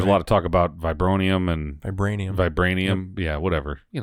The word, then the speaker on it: vibranium: You'll have to say the right pronounced one. vibranium.